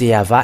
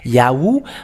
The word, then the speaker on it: Yahvah: it changed to U it is always V and that is yava and those who call yava are washed away from their sins but yahu those who follow yahu are in the wrong way and they are not